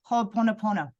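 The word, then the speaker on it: Hoʻoponopono: It's Ho'oponopono.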